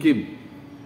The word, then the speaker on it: किम: तो किम, उसका उच्चारण कैसे होता है? किम, म नहीं होता है, किम नहीं होता है, किम।